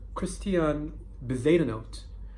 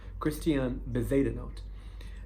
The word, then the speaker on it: Christian Bezuidenhout: So this golf player, Christian Bezuidenhout, I think that's how you pronounce it. I watched a few interviews and that's how they pronounce his name. Christian Bezuidenhout.